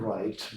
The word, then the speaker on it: write: як воно читається вимовляється to write буква w не читається не вимовляється я написав слово електролисти